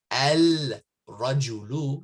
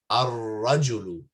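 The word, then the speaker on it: الرجل: Okay, and here rajulun, you don't say al-rajulu, you say ar-rajulu, ar-rajulu, and the shadda helps you realize that as well. You just go, oh, there's a shadda on the ra. Okay, I don't pronounce the lam.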